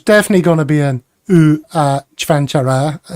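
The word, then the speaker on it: Čvančara: The name is pronounced roughly as Chvanchara, with the C sounding like the CH in church, Van as in English, C again as Ch, and Ara as in Kara, or Chara, making it Chvanchara, emphasizing the first syllable.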